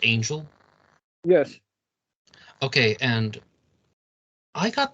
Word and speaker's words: Angel: And forgive me if I had pronounced his name Richard Angle on a previous episode of Black Box Online Radio, but it's pronounced Angel.